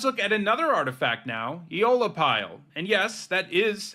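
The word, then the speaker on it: Aeolipile: Eola pile. And yes, that is how you pronounce it.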